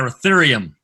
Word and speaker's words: ruthenium: Ruthenium, is that how you say it? Yeah, Ruthenium.